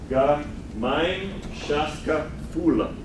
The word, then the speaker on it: Gemeinschaftsgefühl: Gemeinschaftsgefühl.